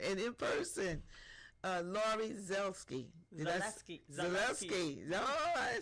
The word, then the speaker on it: Zaleski: Zaleski.